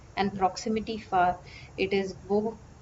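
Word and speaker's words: वह: Then for he or she informally addressed and proximity far, it is wo. Wo is written like this, vaha. Vaha, it's written in the script like that and pronounced as wo.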